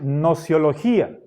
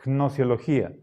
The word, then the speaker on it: gnosiología: Podríamos decir nociología. Y nos saltamos la G. Pero para ser fieles a la etimología deberíamos pronunciar gnosiología, aunque nos parezca un poco raro.